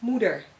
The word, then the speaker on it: moeder: Like O-E. Oe, like in you. Dutch word, moeder. English translation, mother.